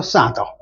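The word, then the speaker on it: solder: 사더. L 발음을 하면 안 된다.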